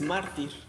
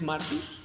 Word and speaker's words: mártir: Y el tema, la otra parte, es mártir. ¿Alguien sabe qué es mártir? Porque a Esteban se le conoce como el primer mártir. Mártir. Acento en la A. Mártir.